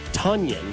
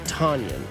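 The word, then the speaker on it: Tonyan: Sorry to be a thanks coach, but it's Robert Tonion, not Robert Tanyion.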